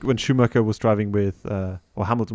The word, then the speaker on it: Schumacher: I know, but I'm trying to say it in an English way. Oh, okay. But Schumacher is the way the Germans would say it.